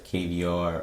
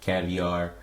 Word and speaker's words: KVR: unique uh you know we pronounce it a few different ways you got the kbr or caviar however you want to pronounce it uh you know